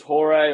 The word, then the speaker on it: Hoare: And I said, "It's like Lady of the Night. Just pronounce it as Hoare."